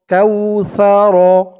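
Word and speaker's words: كوثر: সাউ র জবর র কাউসার এখানে দেখুন অকফা আছে তো এখানে অকফা করলে উচ্চারণ হবে করার কারণে র উপরে জবরটা সাকিন হয়ে যাবে আমার সাথে বলুন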